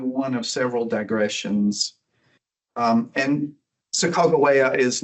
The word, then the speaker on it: Sacagawea: you learn her as Sacagawea? So her name is Sacagawea. That is the way the Wind River Shoshone prefer her name to be pronounced. And like you, I learned Sacagawea also, but it's Sacagawea.